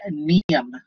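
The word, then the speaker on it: Mnium: The genus is Neum. It's spelled with an M.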